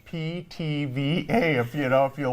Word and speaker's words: Pithivier: good this is a French pastry called a pitiviera yes it's ptva if you know if you look at the uh what it looks like you'll go how do you pronounce that it's ptva ptva and it's it's pretty simple it's two